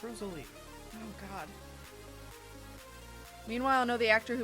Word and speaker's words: Rosalie: It's Rosalie.